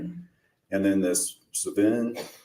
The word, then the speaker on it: Sven: And then this Sven. Swen.